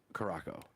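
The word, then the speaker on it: Curaçao: It's blue curacao, but you went to Caraco. Curacao is the island name. Caraco. That's how they pronounced it.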